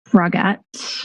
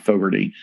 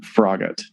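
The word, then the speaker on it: Froggatt: Joanna Frogette. No, no, no, no, no. Oh, wait. Yeah, it's not Anna. It's Joanna or Joanne Frogett. It's not Fogerty. Joanne Froggit.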